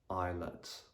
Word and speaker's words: islet: The letter S is normally not going to be pronounced when it comes just before the letter L. So for example, in the words island, isle, islet, and isle.